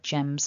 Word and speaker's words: gems: If you've got a noun that ends with a m sound, then the plural version, it looks like an S, but it's actually subtly different. It's a Z sound when you make the plural.